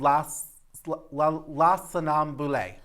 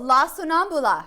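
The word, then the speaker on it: La Sonnambula: And I want to pronounce it right. Oh, yes. It's called La Sonambule. Oh, La Sonambula.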